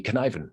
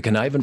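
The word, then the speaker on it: Cynefin: This is the Conniven framework. It's a Welsh word, which is why the way it's pronounced is completely unrelated to the way it's spelled.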